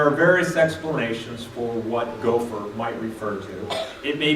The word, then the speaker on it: gopher: Gopher is a transliteration, which means it's pronounced gopher in the Hebrew, and so we just make some English letters that come together to sound that way.